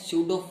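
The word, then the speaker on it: pseudo: यहाँ पे P silent हमारा, तो इसको बोलते हैं हमने स्यूडो फर्स्ट ऑर्डर रिएक्शन। आया समझ में। यहाँ पे जो सूडो दे रखा है, सूडो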